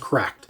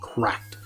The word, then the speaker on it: CRKD: I heard this is pronounced cracked, CRKD, cracked. I just thought it was CRKD, but nope, I heard it was pronounced cracked.